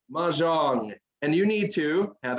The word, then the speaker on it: Mahjong: It's Mahjong.